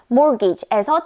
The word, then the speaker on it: mortgage: 이미 알아채신 구독자분들도 계시겠지만 mortgage에서 t는 발음이 되지 않죠. 따라서 mage가 아니라 mortgage라고 말하는데요.